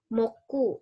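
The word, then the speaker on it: 木: Jadi hari pohon ini moku, ini dibacanya moku, teman-teman ya. Mokuyobi.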